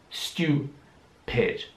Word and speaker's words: stupid: Hier wird das U wie ein U ausgesprochen, also U. Stu. Stupid.